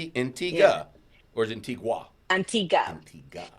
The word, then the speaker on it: Antigua: or is it Antigua? Antigua. Antigua. Well, it's spelled Antigua, but they say the locals say Yeah, Antigua.